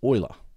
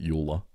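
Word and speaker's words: Euler: we going to do and then of course Oiler the one and only Oiler everyone pronounces it Yola e l e uh the famous mathematician the goat right everyone it's it's Oiler he actually found a um so I should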